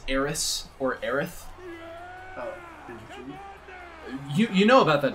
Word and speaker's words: Aerith: it in the game they pronounce it aerith right yeah but because